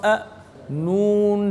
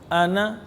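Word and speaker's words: أنا: हमजा ज़बर अ नून ज़बर ना अना वकफन अना यानी हिज्जे और रवा में अलिफ को ना अदा करेंगे ना अलिफ का नाम लेंगे।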